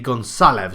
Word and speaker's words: Gonçalves: the screen now, that I'm saying Goncalves wrong. Because it's a C with a little thing on it, it's how you'd pronounce an S. So it'll be Gonçalves.